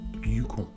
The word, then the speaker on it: Yukon: Enfin, il me semble que l'on dit plutôt un territoire qui s'appelle le Yukon. Ça, c'est ma façon de le dire, mais j'ai aussi entendu la prononciation Yukon.